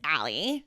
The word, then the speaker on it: Ali: my name is Allie. Allie. Yeah. How do you spell that, Allie? ALI. A-L-I. Yeah. Okay. Like Ali. Like Muhammad Ali.